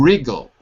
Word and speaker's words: wriggle: To wriggle. Wriggle. This is a word that is spelled with a W. W-R-I-G-G-L-E. To wriggle.